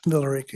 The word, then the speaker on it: Villa Rica: Villa Rica, yeah.